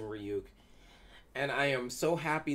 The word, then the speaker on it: Ryuk: i'm paraphrasing buddies like it's pronounced ryu not ryuk what this thing this